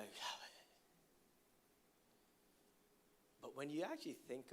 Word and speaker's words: Yahweh: Everybody say Yahweh. Yahweh. Yahweh is the name for the God of the Israelites, representing the biblical pronunciation of YHWH.